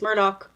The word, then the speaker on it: Murdaugh: Murdaugh. Well, we were told that, in the Low Country, his name would be pronounced Alec Murdaugh.